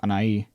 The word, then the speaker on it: Anahi: I never noticed how strange that name is in English, Anahi, because it's pronounced Anai. But that is not how an English speaker would pronounce that.